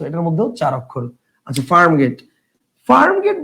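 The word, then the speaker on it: Farmgate: এ আর এম হ্যাঁ এফ এ আর এম জি এ টি ই যদি আমরা এভাবে উচ্চারণ করি যে একচুয়াল বানানোর উচ্চারণ করি তাহলে কি হবে তাহলে উচ্চারণ হবে ফার্ম Getty so this is নট ফার্ম Getty this is ফার্ম গেট so definitely এটা হবে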